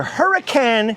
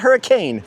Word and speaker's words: Hurricane: So I've got to head from here back to Hurricane, Utah. Not hurricane, hurricane. Trust me, you can't pronounce it hurricane without getting scolded by the townsfolk.